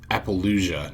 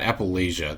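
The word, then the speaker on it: Apollousa: It's Appalachia, not Appalachia. That's an O, not an A.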